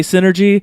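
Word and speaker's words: Psynergy: like spells using a synergy or sine or G or however you want to pronounce it I'm gonna say synergy because it's like psy NER GUI so sin ergy like sent like I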